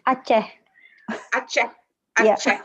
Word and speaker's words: Aceh: Yeah, for example, in one of the publication of the reason of Aceh, is that correctly pronounced? Yeah. Aceh.